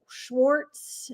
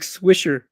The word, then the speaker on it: Swisher: Nick Schwarz, is that how you say his name? The the catcher Nick Schwarz. Nick Swisser.